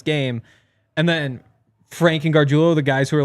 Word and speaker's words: Gargiulo: Also, one more thing I learned from that is that Frank Crum and Nick Gargiulo are Gargiulo.